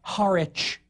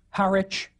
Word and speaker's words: Harwich: Or the suffix wich, pronounced without the W now, like Norwich or Harwich.